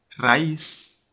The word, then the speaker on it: raíz: Raíz, al pronunciarla, hay una de las 2 vocales que la componen que recibe el mayor esfuerzo de entonación. ¿Cuál de ellas es? Bueno, obviamente es la I, ¿verdad?